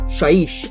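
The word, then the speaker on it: Shyish: Okay, so the next one is from the Realm of Death, or Shaiish as it's pronounced.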